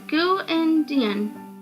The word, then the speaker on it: Grindlin: It is pronounced Gu-Indian, she said, ending with a friendly smile.